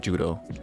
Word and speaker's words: Judeau: Such an example would be a character like Judeau or properly pronounced, Jude. The 1st time we meet Judeau is in the Golden